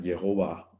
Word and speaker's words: Jehová: eso nos da identidad curiosamente el nombre de Dios no se puede pronunciar en hebreo porque no tiene vocales es yh w o w le agregaron e o a para que sonara Jehová O a e para que sonara yah o yahwe por qué no tiene